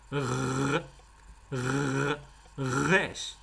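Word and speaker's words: ריש: 看着像是个 rash，但实际上它是一个小舌的颤音 rash。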